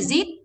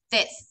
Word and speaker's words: this: Không phải zit, không phải zit mà là quay lưỡi ngoài. This.